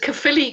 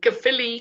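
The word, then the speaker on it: Caerphilly: us the name of your castle it's called kaphili castle which is spelled c a e r p h i l l y k philly castle wow wow okay guys so we're all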